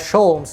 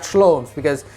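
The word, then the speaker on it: Sholmes: schlommes no sholums but just make sure to pronounce it as sholms not schloems you get the idea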